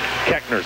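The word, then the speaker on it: Koechner: is Ethan Kekner kekner spelled K O E C H N R but pronounced Kekner so a third and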